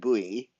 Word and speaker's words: buoy: and decal and um boy and buoy well it's like Bowie in America and like boy in Canada or we're doing